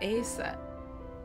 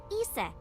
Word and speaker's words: Isis: About Aset. Horus's mom is named Yeah. Isis. 6 years ago. Horus's mom is named But Isis. in ancient Egyptian, it's pronounced closer to Iset or Aset.